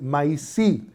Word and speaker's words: maíz: Well, that comes from the Taíno word maíz. Maíz, the S turned into Z, maize, the English pronounce it a different way.